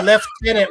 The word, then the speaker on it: lieutenant: I'm like, how do you get Malin out of Magdalene and why do you say left tenant when it's clearly from the French lieutenant, you know?